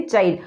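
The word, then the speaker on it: chide: Word मैंने लिखा है, तो ये इसकी प्रोनाउंसिएशन जो बनती है वो बनती है चाइल्ड। बहुत सारे बच्चे जो हैं इसे चिड़े भी बोल सकते हैं, तो ध्यान से आप देखेंगे इसे कि इसकी प्रोनाउंसिएशन जो है वो है चाइल्ड।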